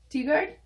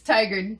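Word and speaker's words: Tigard: beaverton guard mm-hmm um t-guard how do you say it it's tiger tiger yes oh i love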